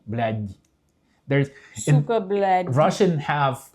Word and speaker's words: блядь: Russian language has the letter which means soft. Oh yeah. There's like a soft, мягкий знак, like soft syllable. Like it's you say the Dmitry, but D. Yeah. If you say блядь in the end D, and then the regular D is like the Dmitry.